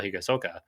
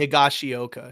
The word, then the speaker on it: Higashioka: got him was the catcher Kyle Higasoka, or I Oh, probably Kyle pronounced it wrong. Higashioka. Sure, Higashioka, thank you.